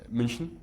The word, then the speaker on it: München: Um München. München? München. Yeah, it's like a weird Yeah, München.